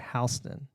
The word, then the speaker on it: Houston: Anyways, so there's Houston, Texas, but in our city there's a street named Houston. Houston Spelled Road. the same, but the different pronunciation.